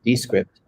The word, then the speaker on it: Descript: This is Descript, like description, but Descript.